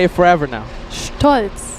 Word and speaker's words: Stolz: Stolz. Strolz. Stolz. Stolz. It's the ST. Stolz. Stolz. Stolz. Stolz. I say it like an American, like Yeah. Stolz. It's not like that.